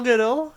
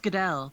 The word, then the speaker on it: Goodall: Joining me today is the fabulous Goodall. How you doing? It's pronounced Goodell, but Goodell.